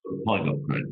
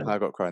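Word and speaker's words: Pygott & Crone: Kevin, am I pronouncing that? Pygott Crone, yeah. Pygott Crone, there we are.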